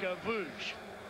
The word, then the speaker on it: Gavouche: TJ Gavouche. That is how you say it. That's Ukrainian. exactly right. It's a Ukrainian last name.